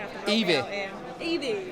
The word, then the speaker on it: Evie: Evie. Yes, one syllable. Why? No, 2 syllables.